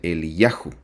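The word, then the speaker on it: אליהו: repasar es Elías que en hebreo se se pronuncia el yajo como hace rato lo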